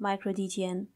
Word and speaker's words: µD3TN: dtn supposed to be although it is written micro d3tn we pronounce it like micro dtn it is an open